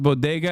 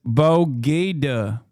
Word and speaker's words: bodega: Throwback when Jill pronounced bodega as Bogeda.